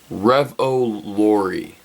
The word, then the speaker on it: Revolori: Revolori.